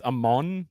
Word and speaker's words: Amon: who's never heard and it's Amon like Egyptian Amon am o n right did I just say it right yeah no you said it correct yeah yeah I'm just